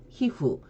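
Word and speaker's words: 皮膚: 히로 발음이 된다 했으니 히후, 표피는 효히 이렇게 발음을 하시면 됩니다.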